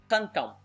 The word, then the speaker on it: cantam: Take for example the verb cantam. Cantam. Let me pronounce it slow now to see if you can see the trick. Cantam. As you see, it's the same. It's a nasal sound plus an at the end.